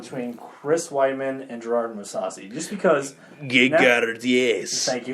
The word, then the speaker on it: Mousasi: Let's move on to the middleweight bout between Chris Weidman and Gerard Mousasi. Just because, yes. Thank you for pronouncing it correctly.